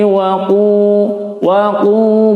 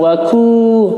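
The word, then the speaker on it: وَقُو: Fattaqun narallati waqu bukan waku karena menggunakan huruf qaf. Waquduhan nasu wal hijarah, waquduhan nasu wal hijarah.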